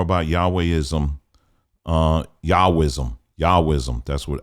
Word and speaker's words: Yahwism: tell me more about Yahweh ISM uh yahwism yahwism that's what how you say it outside of